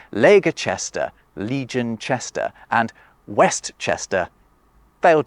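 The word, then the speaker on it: Leicester: we're not interested but we are interested in leester it's named after a Celtic tribe and to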